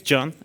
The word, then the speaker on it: Can: My name is Can, actually, like Emre Can, so that's how it's pronounced.